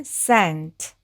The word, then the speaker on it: scent: 그러면 여기까지 san이 되고 T는 T 해서 이 단어는 scent, scent라고 읽으시면 되겠습니다.